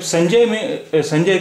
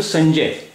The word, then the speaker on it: संजय: अब जब हम बोलते हैं शब्द संजय देखिए, हिंदी में हम संजय इस तरह लिखते हैं, लेकिन हम इसे बोल क्या रहे हैं? हम इसे बोल रहे हैं, ये जो हम बोल रहे हैं अगर उसी तरह लिखें तो ये स्पेलिंग होती है उसकी, संजय, क्योंकि जय हम बोल रहे हैं, जा पे ए की मात्रा है, यहाँ या नहीं बोल रहे हैं, संजय नहीं बोल रहे हैं, संजय